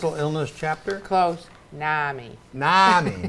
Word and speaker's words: NAMI: How do you pronounce it? NAMI? National Alliance of close. Mental Illness Chapter? Close. NAMI. NAMI, not NAMI, NAMI.